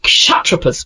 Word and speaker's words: Kshatrapas: These governors were called kshatrapas, pronounced kshatrapas.